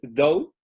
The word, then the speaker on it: though: Pero sí, este es el though. Se pronuncia como con una D.